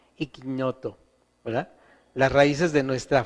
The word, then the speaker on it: ignoto: Las palabras se escribe ignoto dei, ignoto se escribe, pero se dice en latín, si usted estudia y para sacerdote y va a hablar latín, usan la ñ, cuando está la G y la N junta usan la ñ, ignoto, ¿verdad?